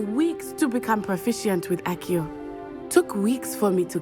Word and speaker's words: Accio: Took me weeks to become proficient with Accio. Took weeks for me to get Accio. anything right when I transferred here. 발음은 아키오인데 여기서는 아시오라고 번역해놨네요.